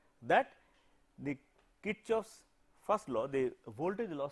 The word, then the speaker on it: Kirchhoff: By the way, some of you may have heard the name as Karchoff, it is not Karchhoff, it is Kirchhoff. The guy was German and German all the letters have pronounced as they are.